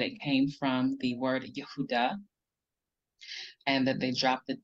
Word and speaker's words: Yehudah: But coming from this word here, it is incorrect because here we don't have a long ah, we have a shva or a schwa, which is a very short, quick sound, or it is silent. So this is Yehudah, Yehudah, not Yahudah.